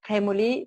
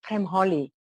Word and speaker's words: Premoli: And instead of Premoli, they always called me Premholi.